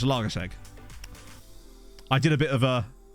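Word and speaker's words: Zalaegerszeg: Because the I is actually, from what I've been told, not actually part of the name. That's just like a thing that's there. So I think it's pronounced Zalagaseg.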